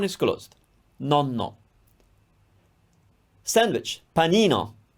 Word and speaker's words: panino: closed no no sandwich panino panino closed porta porta can you